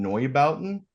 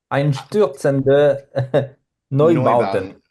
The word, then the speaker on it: Einstürzende Neubauten: Einstautzen den Neubauten. I wrote it out phonetically because if you're one of the guys